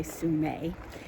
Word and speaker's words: Sumeg: So, the other cool thing about this Sue-meg State Park, which is spelled Sumeg, but the native people say Sumay, is that it is right along the ocean.